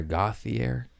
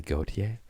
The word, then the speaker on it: Gautier: Homie Renee Gautier was on there, and the whole time I've been calling her Gauthier. Fucking French, Spell it different. Why isn't it spelled like the artist? Yeah. Then I could pronounce it. Gauthier. Actually, Gautier.